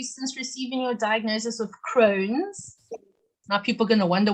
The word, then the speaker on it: Crohn's: receiving your diagnosis of crohn's am i saying it right no not at all it's crohn's like an old hag well crohn's disease crane